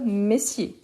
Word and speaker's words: messieurs: Donc, messieurs. Et pourquoi on change ici la prononciation? Donc, plus fermé, monsieur, ici, mais, bien ouvert, messieurs.